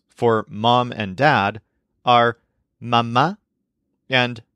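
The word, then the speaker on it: mamá: Mom and Dad are mama and papa with an accent mark on the last a in each casee Mama and Papa for example my dad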